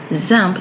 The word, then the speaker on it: XAMPP: run and that is what samp is for zamp is a local server that provides an environment